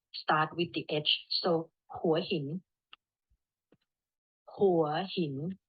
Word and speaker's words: Hua Hin: with the edge so who are him not why he we pronounce start with the edge so for him okay so yeah again